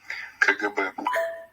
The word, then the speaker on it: КГБ: Okay, so here's how you pronounce the Russian of KGB. Комитет государственной безопасности. КГБ.